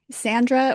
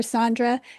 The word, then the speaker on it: Sandra: Sandra or Sandre didn't m didn't matter how you pronounced it as long as you didn't call me Sandy.